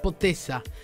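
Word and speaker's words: potica: Pótica, le dijo Francisco a Melania en una referencia a una torta calórica típica de su Eslovenia natal que se pronuncia potesa.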